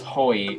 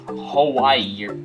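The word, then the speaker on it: Hyoi: And yes, I know it's actually pronounced Hoi, not Hawaii or whatever.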